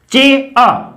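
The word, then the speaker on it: chair: अब देखिए ए अ, रे यहां पर साइलेंट है, चे, टी इस प्रकार का सिंबल चे का है, ए की मात्रा ए और रे को हमने आर ब्रैकेट में लिख दिया।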